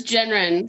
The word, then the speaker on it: Gendron: It's Genren, the D silent.